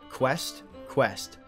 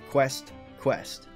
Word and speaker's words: Quest x Quest: night and is titled quest quest now the X in the middle I don't think it's pronounced as X because with Hunter hunter